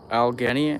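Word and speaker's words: Allegheny: H is silent. Aenance. Algheni ass like that.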